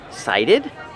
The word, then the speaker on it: cited: The T makes a fast D sound.